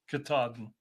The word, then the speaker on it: Katahdin: top of, and Barry told me how to pronounce this, to the Mount Katahdin, Katahdin. got to the top of Mount Katahdin, where she sang the first verse.